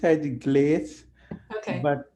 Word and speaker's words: GLACE: glaz or is it GL yeah I I pronounce it glaz okay but it's original Creator Randy Coster from NASA he pronounced it gloss I I I never got that pronunciation so